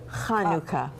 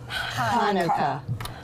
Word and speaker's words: Hanukkah: So the one sound that English doesn't have a letter for is cha. Try it with me. Cha. Cha. So say it with me. Hanukkah. Hanukkah. You all get an A.